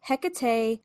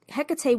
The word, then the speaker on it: Hecate: So Hecate or Hecate or Hecate as the Greeks would Greeks would have said is one of those figures who refuses to sit neatly in one box.